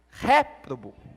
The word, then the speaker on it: réprobo: vou deixar você pensar toda vez que ali tem um acento é a sílaba tônica então é ré réprobo o ok tá bom mas